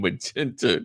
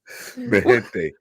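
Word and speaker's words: MiGente: No, that's how you pronounce a G in Spanish. G in front of a vowel.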